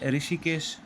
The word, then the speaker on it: ऋषिकेश: आप सबने ऋषिकेश सुना होगा, एक शहर का नाम है। तो उसका शुद्ध उच्चारण और शुद्ध लेखन ऐसे होता है, अभी